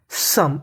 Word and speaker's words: some: देखिए मैं बता दूं, अगर किसी भी मीनिंग के आखिरी में ई लिखा है तो उसका उच्चारण हम लोग नहीं करते, यानी हमें ई अक्षर का उच्चारण नहीं करना।